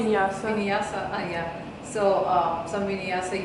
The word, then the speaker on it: vinyasa: So going and doing like some vinyasa, how you pronounce Vinyasa.